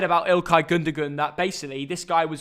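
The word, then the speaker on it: Gündoğan: let's start with ilkai gundagan or am i saying it wrong dat it's gunder juan no gunder juan of the threes the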